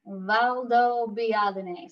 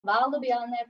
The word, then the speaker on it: Valdobbiadene: In Italy, you pronounce all of the letters. So to say it slowly, it's Conegliano Valdobbiadene. So Conegliano Valdobbiadene Prosecco Superiore DOCG.